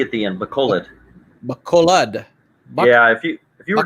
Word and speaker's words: Bacolod: Is it Bacola? Is that the right way to say it? Bacola, But Philippines? it's got a D at the end. Bacolod.